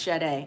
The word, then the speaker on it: Sade: It's pronounced Sade. I knew it. My bad. I'm sorry. I was like, I think you're supposed to say Sade.